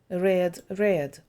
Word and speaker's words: read: led lad read читати red зверніть увагу що графічно пишеться однаково read і red але вимова інша say sad said говорити